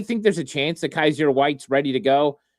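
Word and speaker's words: Kyzir: Yes, and I think I mispronounced his is it Kaiser? Is that how you say his first name? Yeah, Kaiser.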